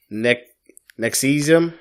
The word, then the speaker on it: NXIVM: Apparently it's pronounced Nexium.